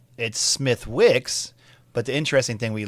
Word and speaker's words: Smithwick's: But we went to Smithwick's, and it's Smithwick's, but the interesting thing we learned in the Irish dialect, they don't really say the TH. They pronounce it like a D.